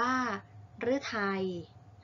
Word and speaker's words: ฤทัย: ฤดู อ่าน ว่า ฤดู ฤทัย อ่าน ว่า ฤทัย พฤกษา อ่าน ว่า พฤกษา